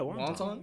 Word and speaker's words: Wanton: So that's how you pronounce it? Yeah, Wanton.